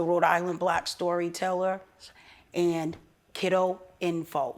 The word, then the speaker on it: Kidoinfo: Island Black Storyteller, and Kiddo Info. Spell it again for us. KIDOINFO. So it's exactly Kiddo Info. Kiddo Info. Just one D. That's One where D. people mess it up. People put two Ds.